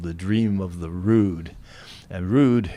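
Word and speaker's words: rood: the dream of the rude and rude it's spelled r o d uh it means cross in Old English it's spelled r o d with a long o Road uh if you go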